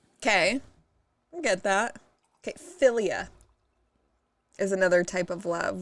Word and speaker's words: philia: Philia is another type of love. What do you think philia would mean? I had an aunt named Ophelia. Philia, I don't know, like affiliate.